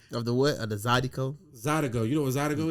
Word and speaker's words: Zydeco: I mean, Zydeco, but it's you saying a C like it's a G, but it's a C. I said Zydeco.